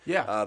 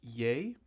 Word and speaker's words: Ye: He said, just to follow up on last week's episode, one of Kanye's album is pronounced Ye and not Ye. And I was pronouncing it Ye like crazy.